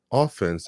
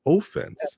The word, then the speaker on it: offense: Now, some people may pronounce the word offense as offense. Offense.